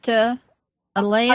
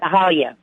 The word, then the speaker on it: Ahalia: Alea, looks like, am I pronouncing that right, Alea? Oh, yeah. No, it's Ahalia.